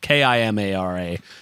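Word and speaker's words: Kimara Bug: It's spelled wrong. Kimara.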